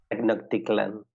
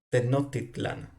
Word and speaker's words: Tenochtitlan: Tecno- Tecnocticlan. Tenochtitlan, O Tecnocticlan. Tenochtitlan, pues eso. Tecnocticlan. Tenochtitlan. Tenochtitlan.